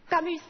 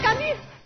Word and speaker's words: Camus: Camus. Mauvaise prononciation. Camus.